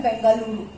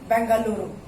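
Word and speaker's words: Bengaluru: कर्नाटक का ये कैपिटल है, कर्नाटक का कैपिटल है बेंगलुरु। थोड़ा आपको प्रैक्टिस करना पड़ेगा बोलने का, बेंगलुरु, कर्नाटक, बेंगलुरु। बेंगलोर बोलने में थोड़ा इजी लगता था, लेकिन आप प्रैक्टिस करोगे तो ये भी बोल पाओगे, बेंगलुरु।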